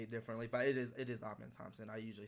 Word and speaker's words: Amen: I literally hear so many people say it differently, but it is Amen Thompson.